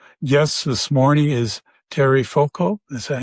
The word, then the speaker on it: Foucault: And my guest this morning is Terry Foucault.